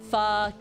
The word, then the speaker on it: pho: That's why you see a lot of chain restaurants being like pho king or what the pho, is because it's actually pronounced that way.